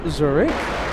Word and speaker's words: Zurich: I know I'm mispronouncing it, but here in America, it's Zurich.